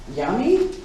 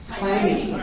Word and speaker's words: Jaime: Yami? That's wrong. Jaime. That's what an H.